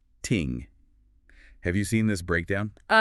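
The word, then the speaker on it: 聽: And on that listening part, the source material highlights this really beautiful detail about the traditional Chinese character for listening, which is pronounced ting.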